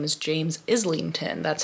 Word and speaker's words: Islington: which I found out his name is James Islington that's how it's supposed to be pronounced so I'm on chapter 29 I think